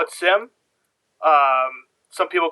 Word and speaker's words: SIEM: Um I call it Sim. Um some people call it Seam. Some people will start really trying to enunciate SIEM. But uh I call it Sim and I think most people I know call it Sim.